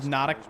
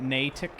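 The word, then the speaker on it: Natick: Uh, by the way, on one of my latest shorts, I pronounced it as Nadic Banks and not Natic.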